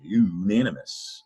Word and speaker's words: unanimous: i like to say when u says you you say unanimous in this case unanimous